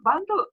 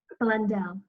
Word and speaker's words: Blundell: And today I have Bando again. Please correct me if your last name I pronounced correctly. Blundell.